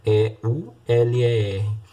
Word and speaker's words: Euler: Se escreve assim, E-U-L-E-R. A gente lê Euler.